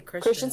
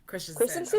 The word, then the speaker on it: Christensen: I always want to say Christian. I know it's Christensen.